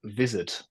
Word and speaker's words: Vizard: and uh chopping those up with a program called Vizard, which is spelled wizard but with V for Victor at the start instead of a W.